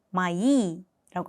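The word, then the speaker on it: мои: 발음을 하시면 되는 거고 마이라는 단어 같은 경우에는 몸이 두 개가 있기 때문에 제가 끝에 이에 강세를 이렇게 찍어 드리는 거예요. 때문에 강세가 오가 강세가 없으면 아 발음이 됩니다라고 말씀을 드렸죠. 때문에이 단어를 발음을 하실 때는 마이라고 하시면 돼요.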